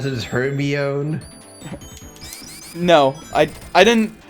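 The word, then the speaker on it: Hermione: it didn't pronounce his Herbie own no I I didn't I didn't know how to pronounce it until until she pronounced it for Victor Krum in that one book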